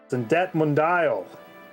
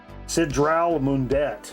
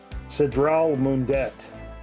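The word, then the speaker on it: Sidral Mundet: Zindette Mundial. Am I saying it right? Probably not. Cindre Synindrell. I'm a The Cindre sisters. I've been saying it wrong this whole time. Cedral Mundet. It was backwards. I had it backwards.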